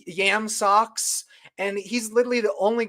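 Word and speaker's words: Yam Sox: His name is Yam Socks, and Socks is spelled SOX, but it's Yam Socks.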